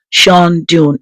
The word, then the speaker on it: Shandon: It's also called Sha Dun in Irish, which means old Fort.